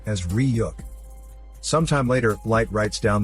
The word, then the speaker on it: Ryuk: The creature comes out and tells Light that his name is pronounced as Ryuk.